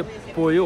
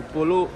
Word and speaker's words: pollo: Double L Spanish में जे या Y pronounce करते हैं, डिपेंड करता है सिचुएशन पे। इतना मुझे समझ में आया मेदेलीन, जैसे पोयो होता है, POLLO होता है, तो पोलो में पढ़ता था पहले,